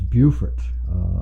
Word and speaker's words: Beaufort: to Beaufort South Carolina it's kind of hard to say that coming from North Carolina because we have a Beaufort they're spelled the same but this is Buford dear friend of the ministry